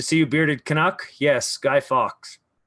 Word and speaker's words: Guy Fawkes: Yes, Guy Fawkes. So that's how you pronounce it, everybody. Guy Fawkes. Or Guy Fawkes, people say singular, not plural.